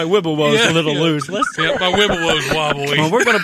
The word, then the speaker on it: Wibowo: My Wibowo's wobbly.